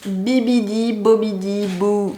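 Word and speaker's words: Bibbidi-Bobbidi-Boo: Maren la fait dans Cendrillon attention à la prononciation Bibidi bobidi BO Salou le magicadeou la B bi biidi bobidiou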